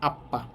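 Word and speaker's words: 아빠: এই সাংবিয়ক মাঝে থাকার কারণে ডবল উচ্চারণ হবে আপ্পা।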